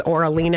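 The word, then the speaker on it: Oralena: aleena my name is or aleena and that's Oh RA L ena and it's spelled just like it's it's it's pronounced just like it's spelled and that's it 602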